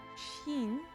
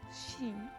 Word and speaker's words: Xin: And in the newer class, or excuse me, not Shin, Xin.